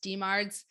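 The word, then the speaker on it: DMARDs: different kinds of medications demards which are disease modifying anti-rheumatic drugs so people pronounce that as just demards two two different kinds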